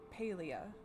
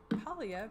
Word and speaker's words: Palia: Um, I think they already released it, but the way he pronounced it was Paleia, as in pale, and I've always called it Palia because I was thinking it was PAL. Apparently, that's wrong.